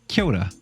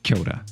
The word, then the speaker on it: kia ora: for hello which is kyota you might have seen it written as kia ora but it's pronounced kyoda and next i thought